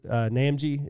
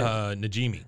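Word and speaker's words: Najimy: I don't know how to pronounce her last name, but the lady that does Peggy's Namji, is that how you say it? Najimi. Najimi. Yeah.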